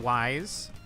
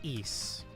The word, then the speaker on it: Ys: You might be confused due to my pronunciation, but the games are called ease. It's spelled YS, so you would think wise, but it's ease.